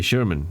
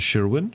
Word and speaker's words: Sherman: Yeah, Sherman, not Sherwin.